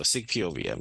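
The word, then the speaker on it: SIC-POVM: So the way that to pronounce it is basically SEEK, so SIG POVM.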